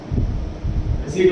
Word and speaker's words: receipt: Examples of voucher are cash memo, invoice or bill, receipt, receipt word में की silent होता है, debit oblique क्रेडिट notes etc.